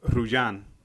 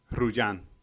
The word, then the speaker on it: Rullan: Well, it's actually Rullan. Wow. Because it's Spanish. He's already gonna start. Can I say Rullan?